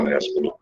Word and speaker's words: Nespolo: Se escreve Nespolo e se fala Nespolo.